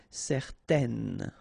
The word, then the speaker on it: certaine: Okay, if you add this at the end, then it will change the thing, and then you will pronounce it n. Okay, so the masculine form, certain, the feminine form, certaine.